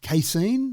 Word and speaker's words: casein: It uses a precision fermentation method to produce casein. That's how I pronounce it.